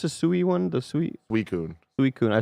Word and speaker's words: Suicune: How do you pronounce the Sui one? The Sui Suicune. Suicune. I said Sui Queen.